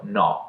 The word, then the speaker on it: no: Fatta questa introduzione, a livello di pronuncia, la O del no è aperta, mentre quella del non è chiusa. No, non.